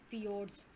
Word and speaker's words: fjord: U-shaped valley है, hanging valley and fjords. So it is pronounced as fjord.